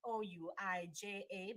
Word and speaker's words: Ouija: because I was here it is actually spelled o-u-i-j-a but pronounced Ouija yeah which is also